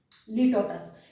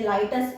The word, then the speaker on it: लिटोटस: लिटोटस। इसकी थोड़ा प्रोनाउंसिएशन में मुझसे गलत हो सकता है। ठीक है, लिटोटस इसको बोलते हैं, या लाइटस, आई थिंक लाइटस है ये।